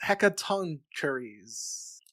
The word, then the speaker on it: Hecatoncheires: And according to How Jay Say, it's pronounced Hecatoncheires.